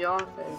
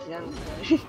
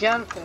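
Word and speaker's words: Yanfei: I always say Yonfei, but apparently it's more like Yenfei. I'm sorry, Yonfei. Keep within the law. Let the show begin. It's Yenfei.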